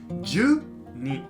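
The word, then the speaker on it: 十二: 12 là Jyuu + ni, vậy là "Jyuu ni".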